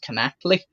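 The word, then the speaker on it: Knechtle: I believe their last name is pronounced Connectly.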